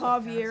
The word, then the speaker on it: Javier: Oh, It's pronounced Javier, actually. All right, guys. You always go. It's Spanish.